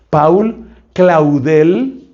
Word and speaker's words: Paul Claudel: Ese hombre se llama Paul, o sea, Paul pronuncian en francés, Paul Claudel.